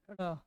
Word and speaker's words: ड़: ड़ का। उच्चारण करते हैं तो क्या बोलते हैं? ड़। न की ड।